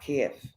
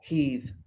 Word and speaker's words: Kyiv: perfect position to attack Kiev, or Kyiv, as it's pronounced.